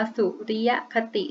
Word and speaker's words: สุริยคติ: สุริยคติ เป็น ยัง ไง คำ นี้ นะ คะ อ่าน ว่า สุริยคติ นะ คะ การ นับ ช่วง เวลา